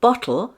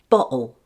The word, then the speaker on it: bottle: The word bottle sounds like this. Bottle.